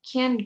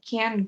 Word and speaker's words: can't: So, en pronunciación no hay diferencia porque esa T no se pronuncia tan fuerte. No digo I can't go. I just say I can go. No existe la T cuando pronuncio. La diferencia es el énfasis que le pongo o dónde pongo el stress, que significa dónde acentúo.